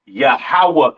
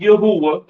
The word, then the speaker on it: Yahawah: not Yahweh right right it is pronounced yahawah in the Hebrew all right yahawah in